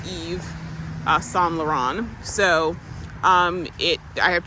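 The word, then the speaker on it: Yves Saint Laurent: second it's Perry day Eve s lauron it looks like Paris day um I St Lauren but it's pronounced Eve s lauron so um it I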